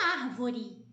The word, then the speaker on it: árvore: Assim como acontece com árvore. A sílaba tônica que aparece ali é o ar.